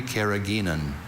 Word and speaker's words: carrageenan: I see only carrageenan.